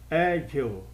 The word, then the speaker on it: agile: Agile, agile, agile, agile. Se você colocar o dedo entre os dentes, quando você fala essa palavra, você morde duas vezes. Então ela tem duas sílabas e a sílaba tônica é a primeira, agile, ok?